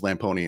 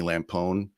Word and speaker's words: Lamponi: My last name is Lamponi and it's spelled like Lampone. And so at least half my friends in college called me Lampone.